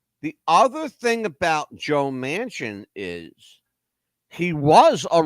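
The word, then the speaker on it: Manchin: is Senator Joe Mansion m n Chu n pronounces it Mansion like the big building the Mansion all right Joe Mansion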